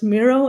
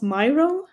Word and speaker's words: Miro: just concluded yes indeed it is pronounced as Miro and not Myro and forly I worked